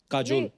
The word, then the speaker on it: Kajol: बड़ा यूनिक नाम है आपका, काजोल। काजल है ना, but काजल होता है, काजोल हाँ, but मतलब बंगाली में spelling है, काजल। बंगाली में ऐसे बंगाली में लिखते हैं। ऐसे उसका प्रोनाउंसिएशन ऐसा पर है।